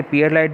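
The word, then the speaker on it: pearlite: इसे पियरलाइट भी कहते हैं। इसका उच्चारण परलाइट भी होता है।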